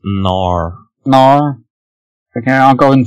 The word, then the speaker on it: Knorr: Ça se prononce Knorr.